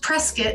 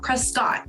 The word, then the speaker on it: Prescott: favorite place to visit is prescott yes it's pronounced prescott not prescott prescott arizona also home to the oldest rodeo